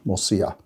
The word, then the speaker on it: morcilla: for the moisia m-o-r-c-i-l-a remember a double l in spanish is a y sound morcilla so that's really something